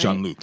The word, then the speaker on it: Jean-Luc: That's how you say his name, right? Jean-Luc, yes. Oh, it's not the French way.